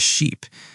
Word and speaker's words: sheep: it's a very adventurous sheep. The difference is sheep has a long e sound and ship has a short i sound.